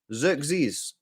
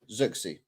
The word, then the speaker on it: Zirkzee: Xerxes. That's Zirkzee.